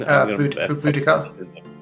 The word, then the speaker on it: Boudica: What's the right way to pronounce her name? Boudica.